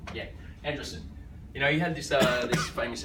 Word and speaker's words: Andreessen: So Mark Andreessen, how do you pronounce his name? Andreessen. Yeah, Andreessen.